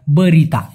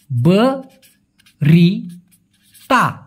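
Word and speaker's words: berita: বলা হয় নিউজ ওটাকে মালয়েশিয়ান ভাষায় বলা হয় বরিতা বরি তা উচ্চারণটা হবে বরি তা এবং অনেকের মনে একটা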